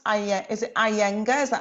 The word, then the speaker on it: Iyengar: How do you pronounce is it Iyengar? Is that how you pronounce it? Iyengar. Iyengar, yeah.